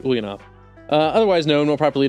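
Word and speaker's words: Ulyanov: ulanov uh last week I love to correct myself I said something horribly wrong but this time I'm saying it right Vladimir ilich ulanov uh otherwise known more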